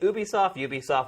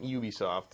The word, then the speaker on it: Ubisoft: And basically, even Ubisoft was like, say it Ubisoft, we don't care. Mm-hmm. Both are fine. Ubisoft, Ubisoft, we don't know. Yeah, but Ubisoft is Yeah. officially how they say it.